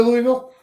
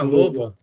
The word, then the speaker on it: Louisville: Logan, are you coming to Louisville?